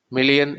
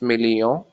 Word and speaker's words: million: You don't pronounce the last N. It's million and billion.